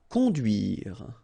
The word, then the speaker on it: conduire: Conduire. Okay, remember U, du, duire. Conduire.